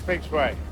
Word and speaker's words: feng shui: He's a Greek and Italian trying to pronounce a Japanese word, right? It's Feng Shui.